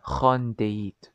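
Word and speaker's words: خواندید: موز وانتهاء رخان دقيق تشوفون الواو ما تلفظ تكتب ولا تلفظ خان ديت شفتوا شلون رفضتها اصلا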